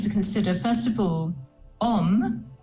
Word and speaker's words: om: consider first of all om uh is a very powerful Sanskrit sound or word and it has three syllables traditionally the Au U and the m and these vibrate in